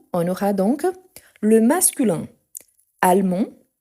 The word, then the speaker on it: allemand: L'Allemagne, on aura donc le masculin allemand, allemand, on ne prononce pas le D à la fin.